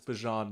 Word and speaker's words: Bijan: It is very hard to say Bijan for 3 years and then, oh, guys, it's Bijan now. So I'm going to take that as the green light to say Bijan and just let it fly.